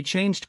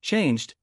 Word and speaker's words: changed: world Champion or he changed clothes dropping the D sound helps the words connect more smoothly in the word changed the E is silent which makes the D sound come between G and C another example of dropping